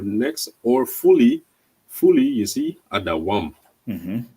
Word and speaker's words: Edom: that's how you really pronounce Adawam, Edom. Adawam.